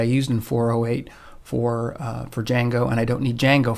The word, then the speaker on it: Django: go to django now django is pronounced with just the j there's no d you can just think of it as being no d it's pronounced django no not django but django so we're going to